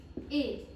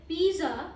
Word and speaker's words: pizza: So if you pronounce it pizza, it is completely wrong. और आपको इसे सही प्रोनाउंस करने के लिए इसे कुछ इस तरीके से बोलना पड़ेगा। PITTZA. It means you have to pronounce it as pizza.